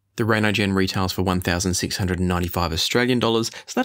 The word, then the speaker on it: Reinigen: The Gieseler Audio Reinigen here, and I've checked the pronunciation since I started the video, so it is Reinigen.